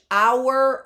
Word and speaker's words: hour: So even though H is a consonant for hourglass, because the H is silent, you can't hear it.